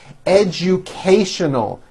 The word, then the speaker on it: educational: what we always wanted educational five syllables educal educational this movie is very educational